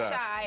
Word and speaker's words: Chi: And we're not mispronouncing it, right? Because we thought it was she, but it's actually Shy, a playoff of Chicago, the Healing Shy.